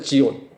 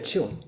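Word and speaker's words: ציון: 지온. Z-I-O-N 영어로 치온이에요. 치온.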